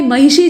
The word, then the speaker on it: महिषी: लेकिन भाई, महिषी जो लिखा हुआ है, इसका शुद्ध उच्चारण अगर आप करना चाहते हैं, तो आपको मूर्धन्य श बोलने के लिए अपनी जबान को अपनी मूर्धा में ले जाकर ट्विस्ट करना पड़ेगा, मोड़ना पड़ेगा। यानी आपको थोड़ी सी कठिनाई होगी। नहीं तो शुद्ध उच्चारण नहीं होगा।